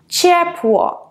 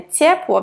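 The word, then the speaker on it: ciepło: «Чепло», «тепло», буква «ц», «чепло», не «цепло».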